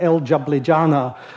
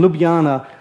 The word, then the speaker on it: Ljubljana: in Ljubljana which apparently an American who couldn't pronounce it called el jablijana so to a lot of us it's El jablijana in Ljubljana where a Bulgarian delegate gave a talk about